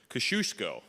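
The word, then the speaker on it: Kościuszko: opening of the and this is how I say his name kashushko I looked it up in Google there's a lot of different ways to say his name that's what I can say because it's three syllables so I'm sticking with it but welcome to the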